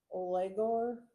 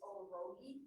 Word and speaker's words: O'Rogie: Olegor, I have a hard time saying it. O'Rogie, Huh? it's O'Rogie. Okay. Common spelling. It's spelled wrong. Yeah. It's spelled wrong here, but it's O'Rogie, yes.